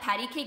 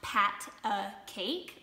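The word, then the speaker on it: pat-a-cake: making by the way did you know that patty cake is actually pronounced pat a cake like not patty but pat egg cake i'm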